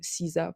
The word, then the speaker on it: SZA: Ça se prononce Riza et donc du coup, SZA pour la chanteuse.